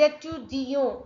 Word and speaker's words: étudiant: If any word ends with e, you have to pronounce till that vowel sound. It's compulsory. Je suis étudiante. Otherwise, without e, it will be pronounced as étudiant. Étudiant, without the letter T.